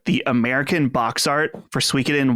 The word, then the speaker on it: Suikoden: He would emphasize the Koden part. Suikoden. Suikoden. Yeah. It's Suikoden.